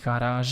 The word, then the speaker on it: garage: That is why we pronounce that last G as a French G and not as a Dutch G, because if it would be Dutch, we would say garage, but we do not do that, and we say garage,